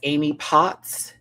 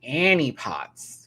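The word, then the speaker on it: Annie Potts: Discord Adams as Amy Pots. Annie, excuse me. Annie Pots. Got her name wrong.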